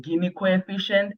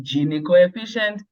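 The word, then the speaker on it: Gini coefficient: we are talking about the guinea coefficient some say gen coefficient pronunciation differs we meet at the spelling right so it can be gen coefficient Len cev and um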